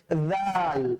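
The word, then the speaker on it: ذال: জালের ব্যাপারটা হচ্ছে, তাৎপর্য হচ্ছে এই সা এবং জাল সেম সেম এক কালার জায়গা থেকে উচ্চারিত হয়। তাহলে সায়ের যে জায়গাটা পাতলা করে উচ্চারণ হবে, জালটাও কি হবে স্যার? ওই পাতলা করেই উচ্চারণ হবে।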